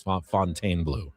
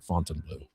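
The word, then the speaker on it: Fontainebleau: I've been pronouncing Fontaine Blue wrong. It's Fontaine Blue, not Fontine Blue.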